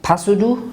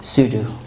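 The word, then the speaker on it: pseudo: or like for example sudo sudo it means something false this is not pasudu it is sudo okay so the letter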